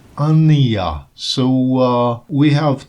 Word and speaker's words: Anna: She said that her name is pronounced Ania.